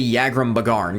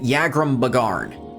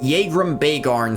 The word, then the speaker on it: Yagrum Bagarn: from yram bear or it's apparently yagrum bagarn cuz it's interesting fact that dwarf there's actually voice files for him in the game but they went unused and he pronounces it yagrum bagarn but jagram bearn sounds cooler gave me the potion